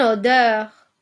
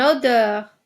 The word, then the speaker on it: odeur: le son e ouvert une odeur une odeur oui nous avons le son e ouvert une couleur une couleur